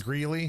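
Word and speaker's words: Greeley: I got a place in Gley. Is that how it's pronounced?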